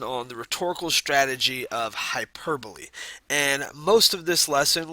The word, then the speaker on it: hyperbole: end of this presentation you should understand what hyperbole is how it works and why an author